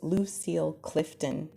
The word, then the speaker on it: Lucille Clifton: Yes, Lucille Clifton.